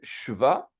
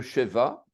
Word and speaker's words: sheva: Ensuite, on a le shva, le sheva. On dit le sheva ou le shva.